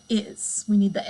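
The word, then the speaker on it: hay: technically we haven't learned it yet what the book is introducing for you here is the verb i again remember that h is silent so it's really pronounced i like your eyeball i and it translates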